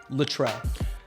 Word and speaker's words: Luttrell: Luttrell. Luttrell, like Luttrell Speed Rail? It's pronounced exactly like Luttrell Speed Rail.